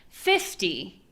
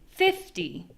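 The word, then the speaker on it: fifty: So we do have a little bit different pronunciation here because we have teen versus T, but I mean, that little N is a very small thing. So where we really feel the difference is in the stress.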